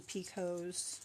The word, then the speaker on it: picot: is pronounced them differently I've heard some women pronounce them Picos some women pronounce them peacocks um okay then for